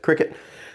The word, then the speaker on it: CRKT: designed minimalist okay so we usually say like cricet uh CR KTB we pronounce it Cricut this is my little folz minimalist and it